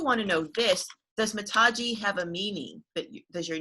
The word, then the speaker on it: Mataji: But yeah, so basically Mataji is pronounced Mataji.